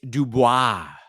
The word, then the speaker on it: DuBois: Oh, I've been pronouncing it wrong. It's not It's Dubois. Dubois, Pennsylvania is now the new headquarters for uh for Pinball Brothers in the United States.